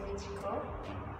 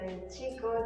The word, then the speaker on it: Michiko: Because my mother, she chose a really specific Japanese name, which is Michiko. But if you pronounce it in a Mexican way, if you say like Michiko, then it means my boy, no?